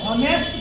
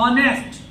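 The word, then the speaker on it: honest: अब ये H silent है, अधिकतर लोग हॉनेस्ट पढ़ जाते हैं, कभी कभी हॉनेस्ट ना पढ़ के इसको यहाँ से पढ़ना आपको ऑनेस्ट।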